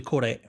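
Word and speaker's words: Kore: I think it's actually Core A, because all the variants are Greek words for something.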